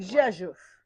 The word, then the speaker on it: Rzeszów: In 2021 to 22, she was a Fulbright Scholar at the University of, and you have to pronounce that. Rzeszów. Oh, come on. Rzeszów.